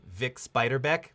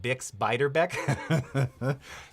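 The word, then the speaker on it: Bix Beiderbecke: and here here he gets the this proper name wrong here I think it was big spider bit coming on it's it's Vic spider back but it got Bix biter Beck it's very specific naming but not not bad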